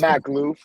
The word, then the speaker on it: Mahklouf: I don't want to mispronounce. Mahklouf.